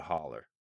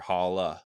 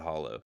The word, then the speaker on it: holler: Everyone call it a holler or holla, Yeah. not a hollow. Never hollow.